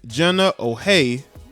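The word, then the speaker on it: Jenna O'Hea: But after this weekend, not sure you can say that anymore after former Australian captain Jenna O'Hay, that's how you say her name, confirmed that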